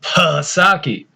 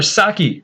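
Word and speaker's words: Psaki: corrected me and said it's not jennifer palasaki it's jennifer saki the p is silent so you know i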